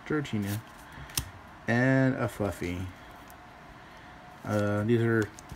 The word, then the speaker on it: Dratini: A Dratini. Not Dragatini, Dratini.